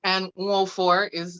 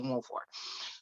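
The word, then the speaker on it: Nwofor: And Nwolfor it's an Igbo name. And I teach people how to say that in my city, because if you can fucking say Tchaikovsky, you can say Nwolfor.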